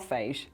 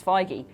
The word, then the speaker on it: Feige: the internet told me it's not phage it's not it's Feige but it's a shame